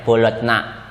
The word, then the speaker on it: Bologna: Tulisannya Bologna, bacanya Bologna.